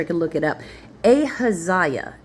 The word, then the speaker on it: Ahaziah: Ahab rested with his fathers, and Ahaz, is how I say it, Ahazih, Ahijah? Okay, I took a quick break to make sure I could look it up. Ahaziah is how you say that.